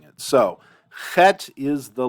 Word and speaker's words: chet: It's almost like the German CH, where it almost sounds like a cat hissing. Chet. And in that, you hear the friction, you hear the breath, but you don't really hear a trill.